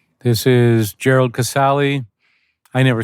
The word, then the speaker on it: Casale: my family you know the relatives all called me casali after that it got butchered 10 ways to Hell sure yeah there was Cass there was casalis they would have put an S on the end I don't know why Cales there was Castle they angli fied it